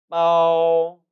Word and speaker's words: 包: 두 단어의 발음은 다음과 같습니다. 발족자 따라 읽어보시죠. 주, 주. 그리고 쌓을 포자, 빠오, 빠오.